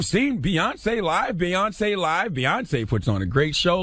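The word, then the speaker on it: Beyoncé: She just had the accent in the wrong place. A president as Beyonce is a performer. And this is after saying how, you ever seen Beyonce live? Beyonce live? Beyonce puts on a great show live.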